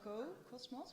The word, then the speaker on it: Cocosmos: tell them the names Cocos Cocos sorry Co Cosmos sorry it's very hard to pronounce but Co Cosmos right we we practice it